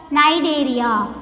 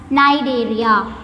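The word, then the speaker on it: Cnidaria: it is also called nidaria here the first letter C is somewhat silent so we have to pronounce it as Nigeria then third phylum Pinot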